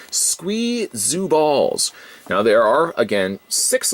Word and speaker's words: Squee ZOO Balls: be saying it wrong i always of course want to say squeezy balls but squee zoo balls now there are again